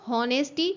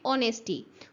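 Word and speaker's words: honesty: For example अगर लिखा है एच ओ एन ई एस टी वाई तो हम इसको होनेस्टी नहीं बोलते हैं। हम इसको बोलते हैं ऑनेस्टी।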